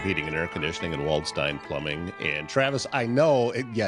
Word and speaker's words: Waldstein: It's Waldstein, not Steen.